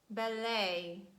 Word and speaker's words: ballet: highlight those words where letter t stands at the end of words and it is silent these words are mostly a french origin for example ballet beret gourmet buffet sorbet